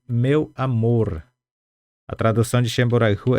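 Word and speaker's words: Che mborayhu: Então, vamos lá novamente a pronúncia. Vou voltar aqui. Shemboraihu. Shemboraihu.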